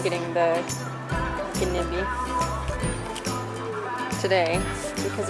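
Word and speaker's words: Gnedby: Gnebi shelves. Gnebi shelves. Which or is maybe what? the G is silent and then it's just Nebi.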